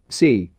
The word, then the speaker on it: Si: Si, pronounced like sir with a slow exhale, which is associated with the lungs.